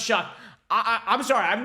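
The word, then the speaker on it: Shough: I can TR and Ste says pronounced shock I I'm sorry I've not heard of Tyler shuck too much I don't watch ACC football by the way Tyler shuck is 25 years old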